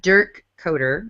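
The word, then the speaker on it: Dirk Koetter: Coaching-wise, I find this one to be a little odd, but Dirk Coder, that's how you say his name.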